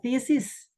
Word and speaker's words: thesis: Atau thesis. Thesis. T-nya agak digigit itu tadi seperti kata thank.